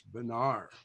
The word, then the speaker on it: Bonar: It is my pleasure today to introduce Jim Bonar, and you want to always pronounce that correctly. It's Bonar.